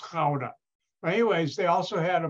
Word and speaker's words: Gouda: No, it's pronounced Gouda.